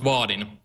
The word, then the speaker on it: Vaadin: about yeah sure so first of all it's pronounced vardin so Vin is actually it's a framework for